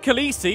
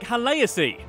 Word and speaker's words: Khaleesi: The word Khaleesi, essentially meaning queen, should actually be pronounced more like Haleasi.